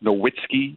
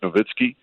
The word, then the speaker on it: Nowitzki: not but you know sometimes it gets caught up in the the American way to pronounce it and there's still some people that say Dirk Nowitzki as opposed to Dirk novitzki um it's also confusion